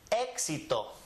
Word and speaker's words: éxito: This one is pronounced éxito.